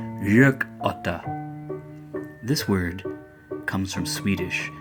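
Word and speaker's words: gökotta: yuck utter jerk oughta say it like it's two words the G making a sound a little like an English why yuck oughta this word comes from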